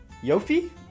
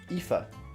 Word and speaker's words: Aoife: How do you pronounce that? Yofi? I know Sorsha. Aoife. Really? Alright, whatever.